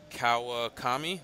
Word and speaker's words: Kawakami: game two looks like s Santana and uh Kawa Tommy is that how you say it yep in